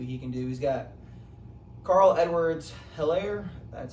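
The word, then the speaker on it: Clyde Edwards-Helaire: He's got Carl Edwards Hilaire. That's how you pronounce his name.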